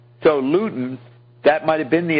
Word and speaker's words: Luton: You are not pronouncing it right because what the is that? L L U T O N Luton.